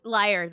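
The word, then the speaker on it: lyre: Liar um would say what is it liar that's how we pronounce it in music history anyway liar okay I'll take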